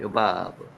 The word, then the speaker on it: 요밥: 자, 요밥. 요바브라고 읽혀집니다. 요바브.